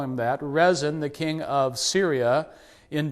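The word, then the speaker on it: Rezin: the king of Syria resin re e z i n probably pronounced more like Rion um Syria is another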